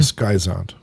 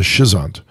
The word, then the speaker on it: schizont: The schizont or the schizont. There are two different pronunciations for this. Schizont or schizont, it's the same stage, right?